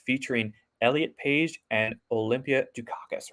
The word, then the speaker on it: Dukakis: doesn't look like it it's built like phonetically why do caucus yeah i know it's a great name yeah yeah it's like do khaki so i'm awesome when